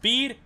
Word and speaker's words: Bede: It's pronounced Bede.